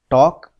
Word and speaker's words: talk: So students, if you look at this word talk, here L is silent. L has no sound.